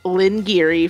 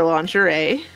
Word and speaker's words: lingerie: And Lynn Geary for lingerie.